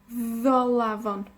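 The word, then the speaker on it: Ddolafon: Es bastante fuerte, bastante pronunciado. D. Entonces, en galés, Tolavon. Tolavon. Soy de Tolavon. Dwi'n dod o Ddolavon.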